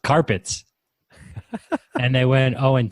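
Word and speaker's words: Card-Pitt: and it says pronounced carpets and they went oh and 10.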